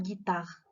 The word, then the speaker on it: guitare: mais regardez ici جي درنا حداها او، كون درناش حداها او غتقرا جيتار، مي حنا on a ajouté le u donc ça va prononcer une guitare.